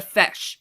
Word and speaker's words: feis: It's called a feis. And guess how it's spelled?